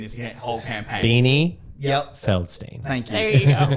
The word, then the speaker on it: Feldstein: Feldstein.